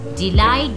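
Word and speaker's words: delight: Then thought, जी H silent है। डिलाइट, जी H silent है।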